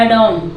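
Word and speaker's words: adorn: एडॉन, ठीक है, एडॉन यहाँ पे भी आर साइलेंट है, अगर एन के पहले जहाँ पे भी आ रहा है वो साइलेंट रहता है, जैसे मॉडर्न, एडॉन, ठीक है।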